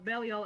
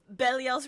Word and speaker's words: Belial: So we say Belial because it's close enough, but like I believe in Hebrew it's supposed to be Belial, which is slightly different.